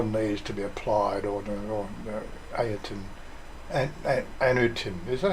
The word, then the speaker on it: Anutin: The law needs to be applied, or Anutin. Is that how you say his name? Anutin? Yeah. Anutin.